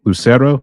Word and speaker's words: Lucero: We got our boy, Larry, and I'm sorry if I pronounced your last name wrong. Larry Lucero, is that how you pronounce it?